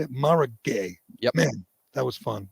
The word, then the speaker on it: Mara Gay: joke uh mara how do you say it mara gay yep man that was fun that was funny